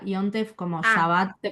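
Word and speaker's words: יום טוב: O sea, Yontef, o sea, se escribe Yom Tov, pero se pronuncia Yontef como Ah, Shabbat, se pronuncia bien.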